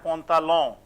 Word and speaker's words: pantalon: AN is also as on, almost same as O. Pantin, pantalon.